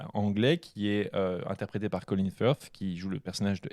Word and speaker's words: Colin Firth: Refais le Colin Firth. Colin Firth. Puis le TH, c'est la langue entre les dents, les gars. C'est tout. C'est comme ça qu'on prononce.